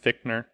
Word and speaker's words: Fichtner: and Like, Just you know real quick, it's pronounced Fichtner. Fichtner? it's pronounced Fichtner.